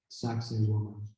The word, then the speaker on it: Sacsayhuaman: And this place is called, I know the name sounds funny, but it's pronounced Sacsayhuaman. I'm saying it correctly.